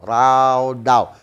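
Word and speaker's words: רָדָה: a compound word in the Hebrew word means rada raw daw ra daw r a d a h Okay rada ang pagbasa natin pero Actually pag pronounce ra daw are you there so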